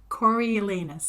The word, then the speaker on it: Coriolanus: quite sure it is how she meant it pronounced and it's Coriolanus is how it's pronounced okay it's just a